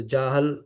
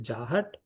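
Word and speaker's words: जहत्: So Jahal, Ajahal, Lakshana. But actually it is Jahat. In pronunciation, it is Jahat, Ajahat, Lakshana.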